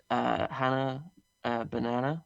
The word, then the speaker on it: Bannanah: Hannah Bannanah, which is spelled like it sounds, Uh-huh.